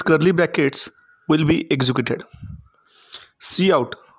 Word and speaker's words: cout: Cout, pronounced C out, is an object used together with the insertion operator, that's double less than operator, to output or print text.